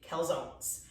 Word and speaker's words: calzone: do is christmas tree calzones actually i found out this week that it's actually pronounced calzone oh yeah this is italian but you know we have to english everything you know americanized and